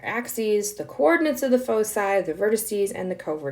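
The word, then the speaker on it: foci: the way the plural of focus is not focuses it is fosi that's how we pronounce that and the vertices are the end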